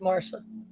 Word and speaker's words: Marcia: Mara spelled Marcia, but it's pronounced Marsha.